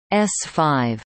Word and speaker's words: S-V: the Saturn V rockets under the designation SV, pronounced S5.